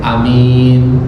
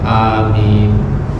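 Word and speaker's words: آمين: Justru yang panjang tuh minnya. A-nya boleh pendek, amin, boleh panjang, amin. Ya, nanti panjangnya beda-beda. Ada yang 2 harokat, ada yang bisa sampai 6. Cuman intinya adalah cara bacanya ada 2, amin ataukah amin.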